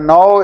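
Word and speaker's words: know: सबसे पहला है नो। इसमें के साइलेंट है।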